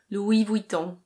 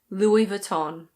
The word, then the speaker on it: Louis Vuitton: In French this is pronounced Louis Vuitton. Louis Vuitton. In British English it's Louis Vuitton.